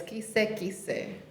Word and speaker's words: kise kise: But the Niuean the Niuean word of the day is kise kise.